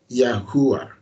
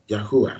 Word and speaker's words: Yahweh: That is the name of Yahweh in Hebrew, the original name of Yahweh. And it's pronounced as Yahweh. Some call him Yahuwah. Yahuwah.